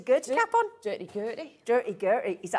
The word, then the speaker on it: Durty Gurty: Durty Gurty.